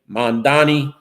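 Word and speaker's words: Mamdani: And Assemblyman Mandami said that Cuomo should learn to pronounce his name, Mandani.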